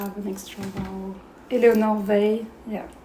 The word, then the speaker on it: Weill: Éléonore Weill. Yeah. I pronounce Weill like Oy-Vey.